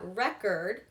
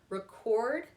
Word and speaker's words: record: The thing, the noun, has emphasis on the first syllable, and then the verb, record, will have it on the second syllable.